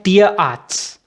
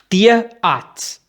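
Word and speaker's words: Tierarzt: उसको जर्मन में उस डॉक्टर को कहते हैं तियरआर्ट्स। तियरआर्ट्स, जो तियर होता है, इसको दो वर्ड्स ये आपस में मिले हुए हैं।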